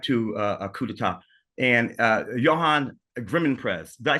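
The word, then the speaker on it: Johan Grimonprez: of uh soundtrack to uh Cuda and uh Johan griman prese did I say it right Johan yes exactly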